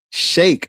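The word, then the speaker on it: Cheikh: I heard somebody say it and Sheikh Anta Diop. I I just I just know cuz I I I repeat the pronunciations from you know I I've heard Anthony Browder and I I heard Dr.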